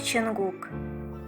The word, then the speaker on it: 천국: Слово «небеса» на корейском произносится как Чонгук.